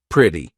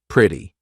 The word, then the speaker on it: pretty: in American pronunciation so when the letter T is in between two vowel sounds or dip thongs all right we're going to use that quick D so city right I'm not saying City it's in between two vowel sounds so quick D City pretty not pretty pretty beautiful nope beautiful